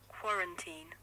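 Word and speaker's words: quarantine: तो मैंने सोचा कि मैं 5 एक्टिविटीज़ आप लोगों के साथ शेयर करूं जो मैं इस क्वारंटीन, फाइनली मैं इसको ढंग से प्रनाउंस कर रहा हूं, क्वारंटीन.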